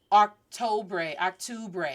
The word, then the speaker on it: octubre: I know it's u, not octubre. And it's not ooh. Octubre. Repeat after me. Octubre. Octubre. That is how you pronounce October.